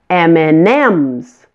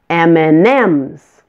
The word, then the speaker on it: M&M's: letter in the combination M&Ms the last M receives the most emphasis M&Ms you can find out